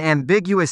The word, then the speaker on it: ambiguous: different directions at once the accent is on the second syllable big which you can remember since something that's ambiguous can lead to Big misunderstandings usage examples example one